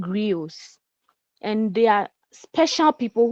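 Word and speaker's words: griots: The word there is not grioto. It is spelled G R I O T S. That is the spelling. And it sounds like griot but it's not. They are called grios.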